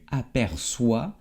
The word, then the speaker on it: aperçois: Bueno, vamos a aprender y aquí como te lo conté, la CCD se pone para que sea el sonido S y no K. Así, j'aperçois, tu aperçois, il ou elle aperçoit, nous apercevons, vous apercevez, elle ou ils aperçoivent.